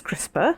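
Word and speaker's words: CRISPR: It is spelled as C R I S P R pronounced as crisper apparently and it stands for clustered regularly interpaced short pindroic repeats.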